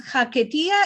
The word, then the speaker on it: Haketia: digo a los elevos, en ladino la h no es muda. cuando aparece en una palabra hay de pronunciarla. Y si conoces esta palabra de otra lengua, que la H no se pronuncia porque está metido ahí eh una palabra estera, bueno, puedes decirla si es del inglés o de otra lengua. Nosotros decimos jaquetía y nunca se me va a ocurrir escribirla